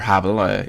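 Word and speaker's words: Hable: It's either Habel or Habel. It's spelled like table with a H, so I'm going to assume it's John Habel.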